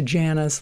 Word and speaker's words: Jana: it's worth listening to Jana's laugh, or Jana is actually how she pronounces her name.